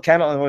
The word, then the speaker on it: Kahnle: Keneal Cannell, however you pronounce his name. I think it's Conley. Former Yankee. Oh, Conley? Is that how you pronounce it? Okay. Kahnle. Conley. Okay.